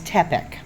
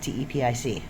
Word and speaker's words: Tepic: Like the city we're in is Teepeek. If you look on a map, T pic. If you're uh Spanish speaking, it's Ti.